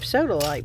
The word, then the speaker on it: sodalite: I was laughing because I've never heard of sodaite before. That's what it looks like. It spelled like soda light. Sodaite. Like satellite only soda.